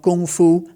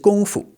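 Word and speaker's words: 功夫: That character on its own though would actually be pronounced fu in the first, you know, high level tone too but no one says it that way. It's not gongfu, okay? It's just gongfu.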